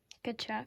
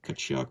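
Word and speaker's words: Tkachuk: It's Brady, but the T is silent. So what do you say? Kachuk. Kachuk.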